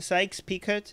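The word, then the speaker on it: Sykes–Picot: any kind of geopolitical sykes-picot is that how you cite sykes-picot picot so the T is silent yeah - solid yeah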